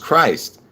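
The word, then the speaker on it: Kryst: So it's not spelled properly, but it's, you know, it's pronounced Christ.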